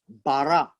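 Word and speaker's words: ברא: 1:1 is this word here and it is pronounced as bara bara is a verb and it's an action word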